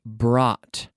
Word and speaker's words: brought: past brought brought brought because we have a lot of letters b r o u GH t brought so we say brought brought we don't say we don't try to pronounce all those letters so sometimes with pronunciation